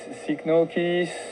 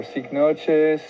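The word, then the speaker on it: Cycnoches: I'm in Fort Lauderdale, and this is Cychnoches or Cychnoches. There's two different pronunciations.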